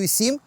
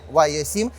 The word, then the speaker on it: YU7: Xiaomi U7. А саме так правильно читається ця назва, не Y7, це великий п'ятиметровий кросовер з колісною базою 3 м, побудований на платформі Modena від Xiaomi.